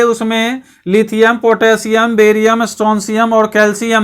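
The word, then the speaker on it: Strontium: दूसरा, बेरियम तीसरा, चौथा स्ट्रोंशियम, इसको स्ट्रोंशियम पढ़ेंगे, स्ट्रोंशियम, हाँ स्ट्रोंशियम इसको पढ़ेंगे, इसका उच्चारण स्ट्रोंशियम होता है, इसका तो आप जानते ही हैं कैल्शियम।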